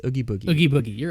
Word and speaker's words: Oogie Boogie: I don't know how to pronounce. It's Oogie Boogie.